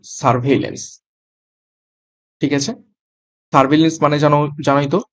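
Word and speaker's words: surveillance: তো উচ্চারণটা কিভাবে হবে? এইরকমভাবে এস ইউ আর সার ভিই আইল হেল লন্স। Double N সি সারভেলেন্স।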